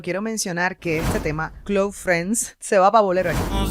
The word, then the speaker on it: KLOuFRENS: mencionar que este tema cl Friends se va voler que él haya escrito tal cual se pronuncia cl Friends más pronunciado en el inglés Close Friends la mudanza es el